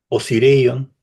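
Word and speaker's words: Osireion: así, la Esfinge, el templo del Valle y Osirion, ya lo mm, pronuncié bien, muy bien.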